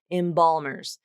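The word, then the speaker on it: embalmers: It's not imbalmer. Imbal. That's more of a light L. You can hear how the resonance kind of shifts to the front. Imbal. Nope. This is kind of back here. Imbal ball. Balmers. Imbalmers.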